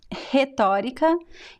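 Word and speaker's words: retórica: you pronounce the r so the first are hetarika usually this is the most common pronunciation rhetorica so the first r sounds a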